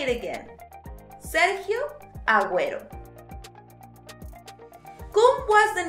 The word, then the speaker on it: Agüero: and G when the vowel U must be pronounced in Spanish. So let's say it again. Sergio Agüero.